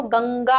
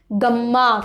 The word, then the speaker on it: गंगा: तो जैसे गंगा, देखिए प्रोनाउंसिएशन करेंगे तो गंगा, अंगा का उच्चारण हो रहा है, ना कि गम्मा करके, ठीक है, ऐसा